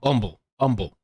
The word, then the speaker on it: Humble: Oh, but you guys don't say humble like the normal ways. Um, was it Umba? Um, umble. They say humble. Like everybody has I guess these these places make their up their own pronunciations. So they call this umble.